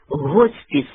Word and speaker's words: госпіс: вказує на російське посередництво чистою українською мовою слід писати і вимовляти госпіс як і в слові госпіталь а в принципі нічого